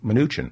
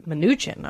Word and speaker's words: Mnuchin: Oh, Mnuchin. Mnuchin.